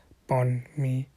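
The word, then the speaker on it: bánh mì: um pronounced from various articles you're supposed to pronounce it upon me like Partners in the backbone and me as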